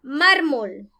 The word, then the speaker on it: mármol: debe de llevar tilde la palabra mármol tiene dos sílabas más y es una palabra grave porque en la penúltima sílaba acá lleva el acento o la mayor fuerza de voz mármol la regla dice que